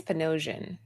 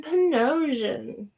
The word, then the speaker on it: Panosian: I think it's Panosian. Dan Panosian. That's how it's spelled, right? P-A-N-O-S-I-A-N. Panosian.